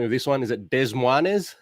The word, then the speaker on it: Des Moines: can help me with this one is it des moines how do you say that des moines des moines and it says by choice uh with his